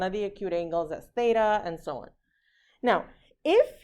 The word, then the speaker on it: theta: bar through it this is the greek letter theta okay it also like phonetically it makes the that sound like fin